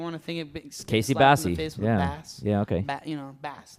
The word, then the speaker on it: Basie: Basie is spelled Bassy like a bass. Casey Basie. Casey is my first name, and then bass like a bassy, and almost like a bass too.